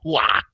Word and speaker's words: Ruau: Okay, so Ines Ruau, R-A-U, so you pronounce it with the Brazilian way. The R is an H, so it's Hua.